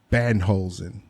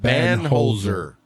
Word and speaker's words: Banholzer: So, Mr. John Banholzen. Nope. What is it? There's no N. Holzer. There you go. It's John Banholzer.